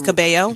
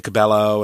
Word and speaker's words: Cabello: it right yeah Hey well it's caballo caballo yeah and but people say Cabello and and so there's